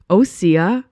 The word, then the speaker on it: Osea: Osea.